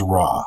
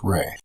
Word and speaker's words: Ra: In ancient Egypt, the name of the sun god was Ra, spelled R-A, sometimes pronounced Re.